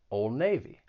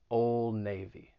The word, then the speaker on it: Old Navy: pretty well-known american brand old navy in this case the d is going to get removed because once again it comes between two consonant sounds old navy old navy and then